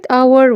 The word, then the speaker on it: hour: بيشذ عن القاعدة كلمة hour وتبدأ بحرف H لا ينطق.